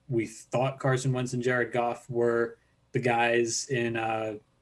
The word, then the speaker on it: Jared Goff: like can i interrupt you're pronouncing his name wrong and i i pronounced his name wrong too uh we have to go to the troy aikman book of pronunciation his name is uh jared golf so you have to say that like troy aikman please just just continue saying that right and jared goff so ryan gosling before